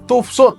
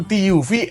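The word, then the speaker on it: TÜV SÜD: punya sertifikasi dari toofsot Iya bacanya toofsot bukan tuv Suud toofs ngasih sertifikasi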